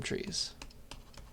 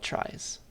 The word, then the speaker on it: trie: to differentiate it from trees and the original like etymology of this word is it's the middle part of retrieval it was originally supposed to be pronounced tree but now we call it tries okay that's the idea